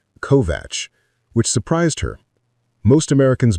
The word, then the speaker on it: Kovač: He pronounced it correctly. Kovatch, which surprised her.